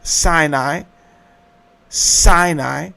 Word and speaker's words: Sinai: The mound of the moon god which you have sin and then it is two syllables. Sinai Sinai except it is really spelled sin and then I I is the mound.